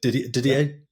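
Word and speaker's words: Didier: He will take that off Ddier Peron and that is a record that has been I'm pronouncing it right. Diddier.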